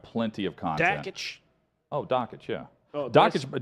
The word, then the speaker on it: Dakich: Oh, Dockich, yeah. Oh, Dockich. did I say it wrong? A lot of people say Dockich. It is Dan Dockich. Dockich.